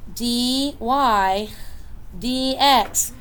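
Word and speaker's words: dy/dx: hey what's another notation D Y DX slope okay literally you just say the letters dy DX dy DX that's how you say it I'm not saying dy divided by it's just dy DX change in Y over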